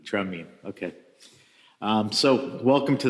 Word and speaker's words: Tramin: how do you say we say tramin tramin Okay um so welcome